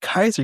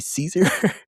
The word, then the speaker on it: Caesar: points out, she's like, "Why are you calling it Kaiser? You guys have a very Roman thing on, but you're putting the hard K for the hard C. Should be Caesar."